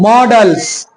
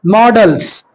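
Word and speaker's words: models: देखो इसमें थोड़ा सा प्रोनाउंसिएशन ध्यान रखना, बहुत कोई इसको मोडाल्स पढ़ता है, मोडाल नहीं, डाल नहीं, डल, डल, ठीक है, डल्स, मॉडल्स, ठीक है, मोडाल्स नहीं, मॉडल्स।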